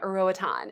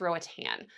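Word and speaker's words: Roatán: And by the way, I thought I was pronouncing it right for a long time, Roatan. It's actually just Roatan.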